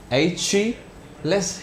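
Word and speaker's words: Achilles: इसको ऐसे ही प्रोनाउंसिएट करते हैं, एच-लेस हील।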